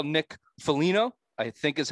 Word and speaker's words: Foligno: I guess you would call Nick Foligno, I think is how you pronounce it.